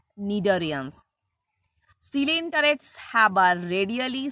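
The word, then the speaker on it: Cnidarians: as nidarians start horizon the pronunciation is nidharians not china damn not shinindarians pronunciation will be nidorians selene turrets have a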